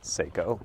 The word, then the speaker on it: Sako: And once you get back there, there's a Sako, or as we pronounce it, Seiko rifle there, and really cool bolt gun.